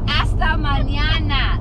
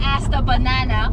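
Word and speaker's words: hasta mañana: esta banana hasta manana hasta manana not hasta banana clothes hasta banana has anyone ever heard of hasta banana and it's not even and it's not even a m i mean you're not even pronouncing the m Nana there's no B stop saying B you're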